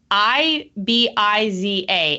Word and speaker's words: Ibiza: do you say it so with the reason why they say bartholona and Ibiza is because it's Catalan which is a dialect of Spanish so I've Been to